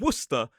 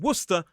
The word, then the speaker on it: Worcester: We also see it in Gloucester, which looks like Glausester, but no, it's Glouester and Worcester, which also lends itself to a source.